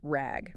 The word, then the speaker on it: RAG: that to Rag and it's pronounced just like the word rag okay rag got it